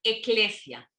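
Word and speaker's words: ἐκκλησία: se les llama asambleas asambleas en griego se pronuncia eclesia es de ahí donde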